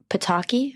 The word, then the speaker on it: Pataki: He worked for George Pataki. Am I pronouncing that right?